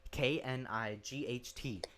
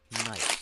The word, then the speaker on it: knight: K-N-I-G-H-T. Okay, night. You pronounce that as night. You don't pronounce it knight because the K is silent.